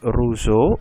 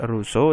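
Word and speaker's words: Rousseau: dibacanya Montesquieu kemudian ada Jang Jacks ruzo ya jangan xjobs Russo dan voltase Ia adalah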